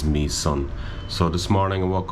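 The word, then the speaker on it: Mỹ Sơn: Sanctuary called me son and it's spelled m-y-s-o-n but I believe how it's pronounced is me son so this morning I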